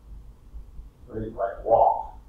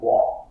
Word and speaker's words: walk: But this is really like walk, because the L is quiet. So it's like walk, right?